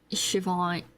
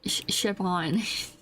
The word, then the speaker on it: Siobhan: I've been listening to a lot of music from Siobhan. Siobhan. Is that am I saying it right? I think it is Siobhan.